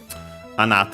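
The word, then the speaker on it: あなた: But yeah, anata accented on the na.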